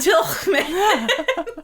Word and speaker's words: Tilghman: It's spelled Tilghman. Yeah, I have no idea. Tillman. I am sorry. If you'd like to send me over a phonetic pronunciation of your name, I'd be happy to correct it. Right now I'm going with Tillman. Because if the GH are silent, why fucking have them in there?